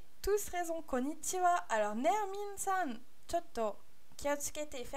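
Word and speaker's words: こんにちは: Donc voilà, pourquoi on prononce ça wa et pas ha? Parce qu'à l'origine, konnichi, c'était deux kanji.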